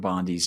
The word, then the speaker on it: Bondi: I'm gonna I'm just gonna pronounce Pam Bondi's name. Bondi like midnight oil.